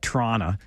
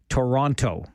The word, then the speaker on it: Toronto: I like to call it Toronto, but we know when you're not from here, when you are very emphatic about the T's. Toronto, right? It's Toronto. That's the second most mispronounced Canadian city name.